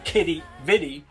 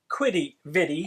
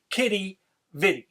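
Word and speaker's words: Quidi Vidi: to be in St John's and check out Kitty vidi not quitty vidi as some of us might have been saying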